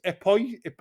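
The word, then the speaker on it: Époisses: He says, I can't even pronounce this. I feel embarrassed. It's Epoise. Epoise.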